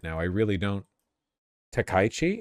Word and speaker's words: Takaichi: Takaichi? It's Takaichi? Oh, I thought with with k a i you would pronounce the the vowels separately.